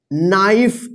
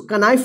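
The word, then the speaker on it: knife: है देखिए यहां पे के एन आई एफ ई इसको क्या पढ़ेंगे नाइफ इसको क नाइफ नहीं पढ़िए नाइफ का मतलब क्या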